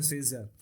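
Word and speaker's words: Scherzer: Okay, इसको ऐसे pronounce करें, सेजर।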